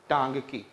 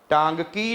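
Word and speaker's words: Ntangki: लेकिन ध्यान में रखिएगा एन स्टार्टिंग में है, एन is silent. टांगकी. Understood it? टांगकी national park in which?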